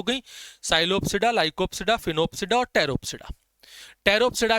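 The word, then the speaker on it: Sphenopsida: फिनोप्सिडा के अंदर एस जो है वो साइलेंट है।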